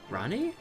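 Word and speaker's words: RANI: Ronnie. Ronnie. R. Okay. So, you are taking our acronym and sounding it out phonetically as a word for our name.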